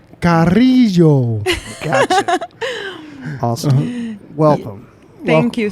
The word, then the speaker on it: Carrillo: Carrillo. Carrillo.